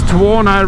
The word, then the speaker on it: Tuono: still running this tawano rhymes with porno in and i'm loving